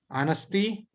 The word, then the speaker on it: honesty: Honesty. The H should be missing.